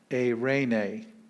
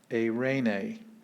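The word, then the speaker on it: εἰρήνη: so three vowel pieces so it's three syllables a raynae a rainey it's where we get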